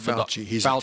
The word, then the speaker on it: Fauci: He's Fauci. Italian, yeah. Okay.